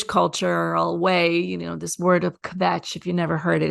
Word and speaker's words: kvetch: in a Jewish cultural way, this word of kvetch, if you never heard it, it's a great word. Kvetch, phonetically kvetch.